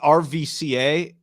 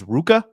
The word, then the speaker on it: RVCA: I always thought RVCA was just RVCA, but then someone told me it's Ruka.